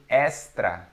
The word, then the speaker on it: Extra: is just a word so I would say extra extra yeah extra we say Astra Astra Astra so why is there no s instead of an X here that's a